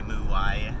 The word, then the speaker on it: Muay: In Thai, the ua is a official diphthong in Thai, and ua is one sound, one syllable, and then the Thai has ua, or sorry, Muay has ua, and then a y at the end, and when you combine y with anything, then it's still just the same syllable. So it's mua e for muay.